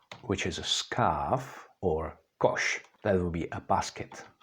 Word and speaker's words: koš: words like Shala which is a scarf or Kosh that would be a basket okay let's move on now we have Z that's pronounced the same as for example in the